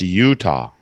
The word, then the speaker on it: Utah: Yeah, it's pronounced Utah.